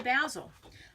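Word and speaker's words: Bazzill: know how to say Basile I learned a long time ago it's razzle dazzle basil that's how you say it basil and so I'm going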